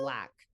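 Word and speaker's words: Blaque: But so it's just Kat Black, like K-A-T, and then Black spelled with like a Q-U-E, B-L-A-Q-U-E. Hi, so Crystal. Kat Black.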